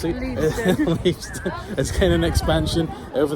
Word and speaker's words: Leavesden: And Leavesden, however I know you pronounce it, Leavesden, is getting an expansion over the next few years, and it will be the official home of Netflix.